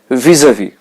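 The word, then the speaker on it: vis-à-vis: then and lastly E the s that we have in spelling is a silent letter so we are not going to pronounce it visa vie okay now we are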